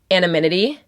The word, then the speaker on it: anonymity: It's because there's, like, so much anonymity.